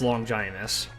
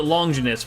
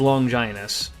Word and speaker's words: Longinus: It is actually pronounced longinus. I always called it longus but apparently it is long ginus.